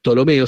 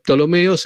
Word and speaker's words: Ptolomeo: Tolomeo se escribe con una P al principio.